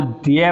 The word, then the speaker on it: द्य: अब इसका उच्चारण जो लोग कर देते हैं वो ध के रूप में कर देते हैं, ध धनुष वाला, जबकि वो अशुद्ध है।